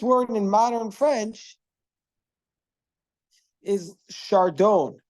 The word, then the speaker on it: chardon: So in French, it's pronounced chardon, meaning to say they don't pronounce the S, and they don't pronounce the The N.